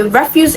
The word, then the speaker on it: refuse: But option C, refuse, is the noun form and it is stressed on the first syllable.